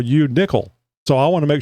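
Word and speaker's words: Nicholl: Nickel. Nickel. It's an Irish German thing. N I C H O L L. So pronounced like a coin, but it's spelled different.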